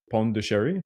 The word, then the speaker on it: Pondicherry: Uh, Bond, okay, in English, you pronounce it Pondicherry.